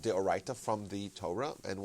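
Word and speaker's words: דאורייתא: that, like Deoraita. mispronounced it, Deoraita.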